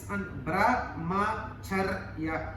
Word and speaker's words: Brahmacharya: Brahmacharya is a very Brahmacharya. Four syllables. Brahmacharya. Brahmacharya. Brahmacharya.